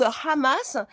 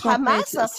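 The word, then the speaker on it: חמס: Le chamac qui est un mot hébreu, hébraïque, qui se prononce Hhamas et qui euh veut dire en hébreu l'abomination, tout ce qu'il y a de plus horrible.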